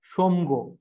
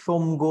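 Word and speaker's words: Tsomgo: হচ্ছে আপনার সোমগো লেক হেলা সোমগো এটি টি টা উচ্চারণ হবে টি সাইলেন্ট রইবো সোমগো লেক আকু আপনারা লোকাল ল্যাঙ্গুয়েজরে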